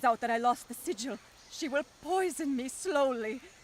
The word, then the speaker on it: sigil: The sigil. The sigil of the first apoctasis. I was out. The pharmacists took it. I always pronounce that as sigil. I was so wrong all this time.